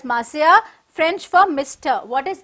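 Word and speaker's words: monsieur: the gotyears got yours m is an abbreviation for maurya pronounced as masaya french for mr what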